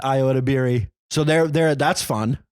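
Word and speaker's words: Ayo Edebiri: friends IO and Rachel it's Senate damn it I knew I said it wrong Rachel Senate and Iota Berry so they're they're that's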